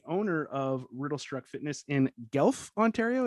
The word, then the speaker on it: Guelph: He is the head coach at Team Riddlestruck, the owner of Riddlestruck Fitness in Guelph, Ontario. Is that how you say it? Guelph. Guelph. You I was Guelph. so close. So close.